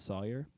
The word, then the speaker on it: Sawyer: saw or saws because my name is Sawyer so uh and they pronounce it sawer um so I would